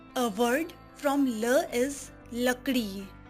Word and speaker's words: लकड़ी: As you say love in English, it is the same pronunciation love. A word from la is lakdi lakdi लकड़ी, ल-क-ड़ी, लकड़ी.